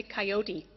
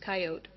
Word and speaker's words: coyote: from the american west in the american west you say coyote but the proper pronunciation is coyote sarah are you correcting